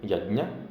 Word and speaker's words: यज्ञ: ये वैदिक संस्कृत में यज्ञ के लिए, जो आप हिंदी में आपको उसको यज्ञ बोलते हैं, वैदिक संस्कृत में उसको बोलना है आपको यज्ञ, इस तरह से। तो हमने कहा ठीक है।